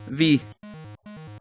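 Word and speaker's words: VVVVVV: In case you're curious, the game is actually just called V, even though it has multiple V's in the title, it's just pronounced V.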